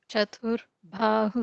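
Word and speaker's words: चतुर्बाहु: Chatur Bahu Samanvita. I might have mispronounced it, but just a little correction. The Chatur Ba would be a regular Ba, not a Bha, not the Okay.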